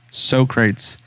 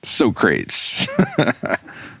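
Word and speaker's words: Socrates: were at first i thought his name was pronounced as sokrates like literally and but i mean because again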